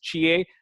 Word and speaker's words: Chie: Like my wife is Japanese, so I know these names are like kind of people say Chi or something. But this is Chie, Naomi, that's how they pronounce it.